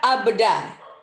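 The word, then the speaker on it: أبدا: Nah, dibacanya abda. Abda ya, abda. Kalau orang Indonesia terlalu lebay abda biasanya. Kalau orang sana cuma biasa aja abda.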